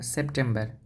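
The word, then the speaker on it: Settembre: সহজ আছে যেমন আপনার সেপ্টেম্বর সেপ্টেম্বরটা হচ্ছে সেপ্টেমব্রে এখানে টি টা হচ্ছে ত এর মত উচ্চারণ হবে সেম্ব্রে সেত্তামরে তারপর হচ্ছে অক্টোবর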